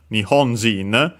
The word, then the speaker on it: 日本: The most notable one unfortunately it's Nihon which is accented on the G. Yeah, of course Nihon Nion uh accent on the on its own means Japan.